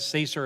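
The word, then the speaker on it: CESER: security and emergency response I guess you're gonna pronounce that Caesar everything in government has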